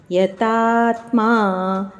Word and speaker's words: ಯತಾತ್ಮ: ಯೋಗಿ ಎರಡು ಸಹ ದೀರ್ಘಾಕ್ಷರಗಳು ಯತಾತ್ಮ ದೃಢ ನಿಶ್ಚಯಹ ಯತಾತ್ಮ ತ ಮೇಲೆ ದೀರ್ಘ ಉಚ್ಚಾರಣೆ ನಂತರ ಆಘಾತ ಇದೆ ಯತಾತ್ಮ ದೃಢ ನಿಶ್ಚಯ ದೃಢ